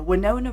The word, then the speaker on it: Winona: So, well, actually, sorry, not Winona Ryder. Winona Ryder, I'm saying correctly because hers is spelled with an I, right?